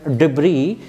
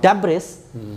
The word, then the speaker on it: debris: a mistake for example the actual pronunciation of the word is just imagine debris and I read deis okay so I corrected